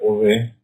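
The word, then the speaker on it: הוה: La palabra Hei, Vav, Hei quiere decir, en el hebreo se pronuncia Ove, que es el verbo ser.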